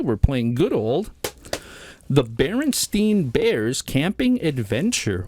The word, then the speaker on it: Berenstain: playing good old the barenstein Bears camping Adventure or baren stain Bears however you want to pronounce that depends on if you believe in the Mandela effect or not it's barenstein it's bar stein bears and so it